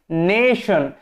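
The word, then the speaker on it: nation: আই ও এন নেশন এখানে টি এর উচ্চারণটা কি হয় স এর মত হয় না তালব স এর মত হয় নেশন এই টি এর জন্য আমরা স পাই ঠিক আছে টি এর জন্য সউন্ড পাই কিন্তু এখন আমি বারবার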